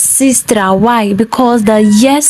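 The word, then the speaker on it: сестра: It is not pronounced as sestra. It's pronounced as sister.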